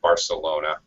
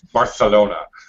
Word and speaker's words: Barcelona: ago okay very good you have a English very American English pronunciation of Barcelona they don't call it that it's Barcelona has more of a kind of a th sound but for an American